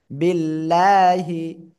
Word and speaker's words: বিল্লাহি: clear সবাই ওকে এবার যদি আল্লাহ শব্দের লাম এর ডান পাশে জের হয় তাহলে আল্লাহ শব্দের লামটা এটা না চিকন হবে লা হবে ল আকারে লা বিল্লাহি তাহলে দেখি আপনারা সবাই